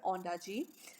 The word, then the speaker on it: Ondaatje: Lankan Canadian writer, Michael Ondaatje, or Ondaatje, sorry, I always pronounce it wrong. The T will be silent here, Ondaatje.